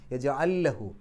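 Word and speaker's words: يجعل له: യജഅല്ലഹു, രണ്ട് ലാമുകൾ അടുത്തടുത്ത്, ആദ്യത്തെ ലാമിന് സുക്കൂന്, രണ്ടും കൂടെ ചേർത്ത് ഷദ്ദുള്ള ലാമാക്കിയിട്ട് പറയാം യജഅല്ലഹു. ലഹു എന്നുള്ളിടത്ത് ഹ ഉലമീർ വന്നു, അതിൻ്റെ മുമ്പും ശേഷമുള്ള അക്ഷരങ്ങൾക്ക് ഹറക്കത്തുണ്ട്, അതുകൊണ്ട് രണ്ടക്ഷരത്തിൻ്റെ ദൈർഘ്യം നീട്ടുക യജഅല്ലഹു.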